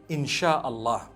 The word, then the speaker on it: Insha'Allah: They pronounce the S-Y the way we pronounce S-H. So they can write it how they want, for as long as when people read it, they read it Insha'Allah.